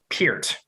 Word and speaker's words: Peart: those who are wondering, the pronunciation, as he told us before the show, the word ear is in his name. So it is Peart for those trying to